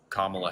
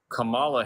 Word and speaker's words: Kamala: you why you're voting for Kamala Harris?